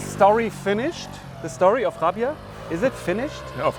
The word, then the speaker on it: Raabjerg: It's written down Rabjerg, but as you said, it's pronounced Rabia.